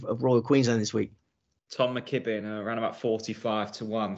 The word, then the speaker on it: Tom McKibbin: his name last year I would have called him Tom mcgibbon I kept getting getting his name wrong didn't I I don't know why my brain wasn't functioning properly with but yeah Tom mckibbin massive future yeah great